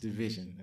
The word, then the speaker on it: DVSN: They call themselves Division, but it's it's spelled DVSN and it's pronounced Division.